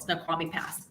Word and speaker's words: Snoqualmie: it's called Snoqualmie Pass they said it wrong but it's called Snoqualmie from somebody who's lived out